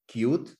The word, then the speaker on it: Qt: Como dice acá, Qt realmente se debería pronunciar como Qt, o algo de ese estilo.